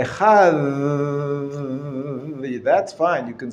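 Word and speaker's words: אחד: Rafa, or soft consonant, whereby it sounds like a TH in the English word the. So if you say Echad, that's fine.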